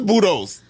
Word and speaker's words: Budos: I don't think that's how you pronounce it. Buddhist Brothers? Where is Budos? Budos. Yeah, you said Buddha.